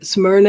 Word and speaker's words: Smyrna: what is it um i didn't hear uh smyrna is how you say it what did she